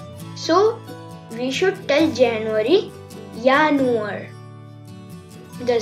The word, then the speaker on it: Januar: See, in this slide I highlighted three things: in English, in German and the pronunciation. So we should tell January, Januar.